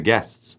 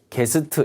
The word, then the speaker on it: guest: to pick up the guests? 자, 어렵네 발음이요. Where should we 이 액센트가 강하게 탁 이렇게 들어가면 어렵죠. 손님 할 때도 게스트 이게 아니라 guest 이렇게 그죠? bus, guest 이런 식으로 발음이. Where should we send the